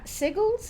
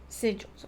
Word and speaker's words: sigils: Only once you have found all three H sigles, is that the way that's pronounced? Will the paths I'm sorry. Go ahead. Tell me again. Sigils.